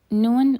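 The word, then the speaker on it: نون: Non is pronounced by placing the tip of the tongue on the upper gum. And the sound also passes through the nose just like the n sound in English.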